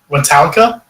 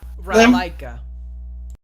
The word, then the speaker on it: Ratalaika: And so I actually did 2 games by Ratalka, or how do you ever pronounce the game dev? Ratalaika.